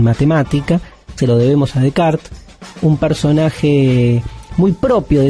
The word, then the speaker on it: Descartes: al pensamiento de rené de kart rené de kart se escribe descartes está todo bien si usted dice descartes bojan o nada se dice de kart esto pasa con los